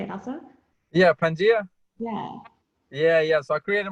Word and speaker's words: Pangea: Yeah, Pangea.